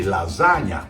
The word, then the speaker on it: lasagna: The GN sounds a little hard for America, but Italians pronounce it gnocchi. Just like you say lasagna, or my last name, Campagna.